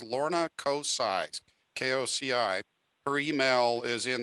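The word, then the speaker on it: Koci: So the Lorna's for those of you who don't know how to pronounce it, it's Lorna Kocai, K-O-C-I.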